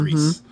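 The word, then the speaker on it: Gris: It is spelled G-R-I-S, but it's pronounced like mm-hmm. Greece.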